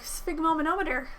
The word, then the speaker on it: sphygmomanometer: me and he knows some fun words like sphygmomanometer that's how you say it I learned that